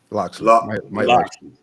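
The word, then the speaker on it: Locksley: No, I always say this dude's name wrong. It's real bad because it's Black History Month. Coach of Maryland. Loxley.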